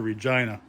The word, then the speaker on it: Regina: Vern's is original to Regina. It's actually the city that rhymes with fun, if you didn't know that.